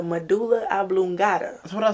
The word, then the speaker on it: medulla oblongata: The Meduna Alligata. You don't know how to pronounce nothing. The clavicula. What? Huh? It's called the Meduna Alligata. It's the medulla oblongata.